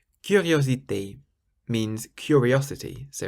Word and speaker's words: curiosité: Or curiosité. Curiosité means curiosity, so it's a K, curiosité.